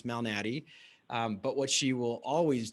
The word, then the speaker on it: Malnati: And so my last name can be difficult to pronounce, Malnati.